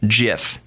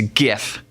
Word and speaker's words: GIF: it was giraffe interchange format it would be pronounced jiff but no gif stands for graphics interchange format graphics the G in graphics the G and the G and gif is go so it's gif its gif gif gif if someone pronounced pronounces